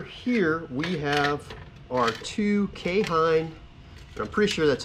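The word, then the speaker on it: Keihin: Over here we have our two K-Hine, and I'm pretty sure that's how you say this if I remember correctly. It's spelled K-E-I-H-I-N on the carbs, but I'm pretty sure that's pronounced K-Hine.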